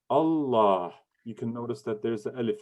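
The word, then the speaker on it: الله: elif there is is not written but it's pronounced allah you can notice that there's the elephant in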